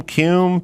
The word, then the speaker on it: Kuhn: Kuhn, Bowie. There you go. Kuhn. That's him. Bowie? Yeah, but he pronounced it Bowie.